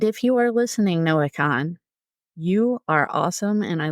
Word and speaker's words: Kahan: so it's not Noah Kahan like I said in the previous episode it's Noah Khan apparently the a is silent as I learned in